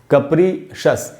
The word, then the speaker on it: capricious: हमको पढ़ना चाहिए कप्रीशस, कप्रीशस, कैप्रीशियस नहीं होगा। ये जो एंड में जो CIOUS है, इसको अक्सर अपने यहाँ अपने कंट्री में हम लोग शियस करके पढ़ते हैं, डिलीशियस, मैलिशियस, इन सारे CIOUS का उच्चारण होता है श और स, शस।